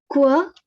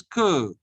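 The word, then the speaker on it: queue: And try to pronounce the next word. Quoi. No, it is que.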